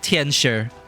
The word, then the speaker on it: Tianxia: You ain't gonna holler your baby names before those Tianxia nosy watch cars, are you? And see, she actually pronounces it Tianshi.